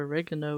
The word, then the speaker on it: oregano: some chicken you know with some oregano um or oregano as Americans say it.